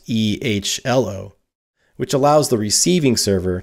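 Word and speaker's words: EHLO: In the real world, the hello command has largely been replaced with the ELO command, pronounced E-H-L-O, which allows the receiving server to pass information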